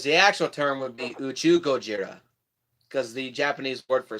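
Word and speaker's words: 宇宙ゴジラ: basically done whereas the actual term would be you chew Gojira because the Japanese word for space is to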